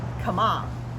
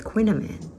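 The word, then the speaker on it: kouign-amann: up getting a box this one is called come on I love how they pronounce it it's easy to remember and sounds like a come on man come on man come on man so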